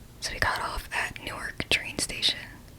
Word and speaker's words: Newark: we got off at Newark train station that's a Newark not Newark if you know the